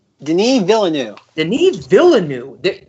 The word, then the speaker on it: Denis Villeneuve: guy's pronoun Denny Villa villa new Denis Villeneuve the Neves Villa new there's like 12 extra letters than what we're pronouncing which is why I'm